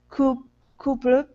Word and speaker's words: couple: Instead of couple, it's cup. Couple. Short U, couple.